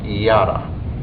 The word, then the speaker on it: yada: in the Hebrew language there's a word is pronounced yada it's actually spelled y a d a and